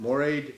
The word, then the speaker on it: moiré: Treated by, Yeah, it's it's just just, it's moiré. moiré silk. Okay. oh, it's called Okay. moire silk. Yeah. Yeah. How you spell it?